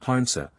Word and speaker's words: heronshaw: being a corruption of heronshaw, or hernso, which is still used, in the provincial dialects, for a heron. In Suffolk and Norfolk it is pronounced harnsa, from which to handsaw is but a single step.